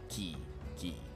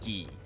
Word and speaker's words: Quay: A shipwright of mine, a young man named Firil's Mid, recently left Candlekeep Quay. Key. That's how you pronounce that, Key.